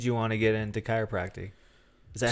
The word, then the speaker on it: chiropractic: So, what made you want to get into chiropractic? Is that how you say it? Chiropractic? Yeah, is it? chiropractic. So Chiropractic. it's such a weird word Yeah. when you so say it. it ends in tick.